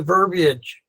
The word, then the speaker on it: verbiage: So minimize the verbiage. It rhymes with garbage.